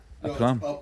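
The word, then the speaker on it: aplomb: A plum. I know. Spell it.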